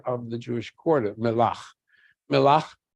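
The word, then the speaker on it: Mellah: Melach, M-E-L-L-H, you see it spelled that way as they pronounce it, Melach, they think from the word melach, salt.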